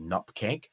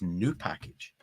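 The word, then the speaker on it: nupkg: it's Gary's Board of Shame um because Gary pronounces nkg nup K correct uh when in actual fact the real pronun pronunciation is new package so Gary's wrong and what Gary's then done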